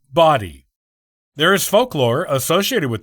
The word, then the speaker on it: Bodie: o sound as in Bodi by most people who are not from the Outer Banks the Outer Banks locals though pronounce the island's name as body there is folklore associated